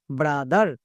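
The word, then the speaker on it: brother: বি আর ও ব্রা টি এইচই আর দার ব্রাদার। তাহলে কত সহজে আমরা এই ওয়ার্ডটিকে উচ্চারণ এবং রিডিং দুটোই একসঙ্গে করতে পারলাম।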